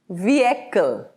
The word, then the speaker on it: vehicle: Vehicle. Now this has 3 syllables.